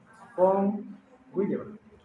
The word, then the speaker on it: von Willebrand: Von Willebrand. O sea, así se escribe. Von, pero es con V, Willebrand. Willebrand. Es nombre alemán. En alemán, la V se pronuncia como F. Von Willebrand.